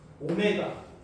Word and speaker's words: 오메가: 오메가. 이렇게. W 아닙니다. 오메가입니다. W는 이렇게 써요. 오메가는 이렇게 쓰는 거고 조금 달라요. 학교 가면 분명히 이걸 더블유라고 읽는 친구들이 있을 거야.